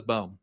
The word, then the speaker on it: Boehm: He goes, everyone says Boehm. I said, that's not what I said. I said, how do you pronounce it? He goes, well, it's Boehm.